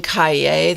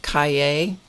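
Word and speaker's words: Cahier: this is the moleskin Kaye that's how you pronounce that Kaye set of three and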